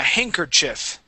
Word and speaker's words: handkerchief: a little funny right from how it's how it's spelled so we say hang C Chi CH yeah handkerchief H Chief excellent okay um let's see our